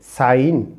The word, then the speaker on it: sign: जी साइलेंट हो example यहां पर जी साइलेंट है तो हम इसे पढ़ेंगे साइन साइन this will be डिजइन